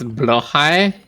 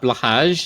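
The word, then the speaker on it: Blåhaj: It's blahai, not blahage.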